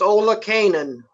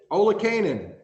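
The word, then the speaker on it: Olakanan: what's your last name it's ola kanan ola kanan just how it should be and what are you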